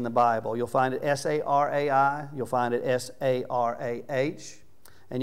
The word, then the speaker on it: Sarai: I'm going to pronounce them all Sarah, okay? Instead of Sarai, I'm just going to go with Sarah.